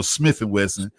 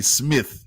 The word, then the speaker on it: Smif-N-Wessun: Or Smif-N-Wessun. It's crazy to have to really be able to say it the way we pronounce it, but you be sometimes trying to correct yourself and still say Smith.